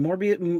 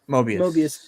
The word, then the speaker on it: Mobius: And what is it, Morbius? What is it? How do you say his name? Mobius.